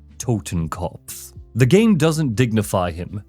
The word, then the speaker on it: Totenkopf: Totenkopf.